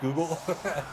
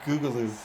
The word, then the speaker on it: Google: So there's a VTuber, a Japanese VTuber who didn't realize Google was pronounced Google. She kept pronouncing it Googaloo.